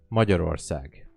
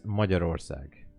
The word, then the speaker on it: Magyarország: We're pronouncing it as Magyarország. Magyarország.